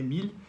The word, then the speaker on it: Émile: do nome dele porque muitas vezes o pessoal fala a emile né como se fosse mulher mas é mily cheguei aí o equivalente francês de emílio mais ou menos né ah ah e